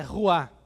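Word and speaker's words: רוח: No Antigo Testamento, lá no hebraico, a palavra é ruá. A própria pronúncia dá a ideia de vento, né?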